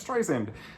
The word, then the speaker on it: Streisand: forget sometimes you're like barbra streisand um let's dry sand like sand on the beach soft s um so